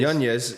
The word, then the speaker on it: Yanez: Yanez, yeah. Should I say? Yeah, that's currently correct pronunciation.